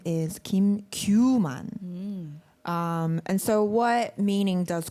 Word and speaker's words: qman: So in English you would say qman, but Yeah. in Korean it's pronounced kuman.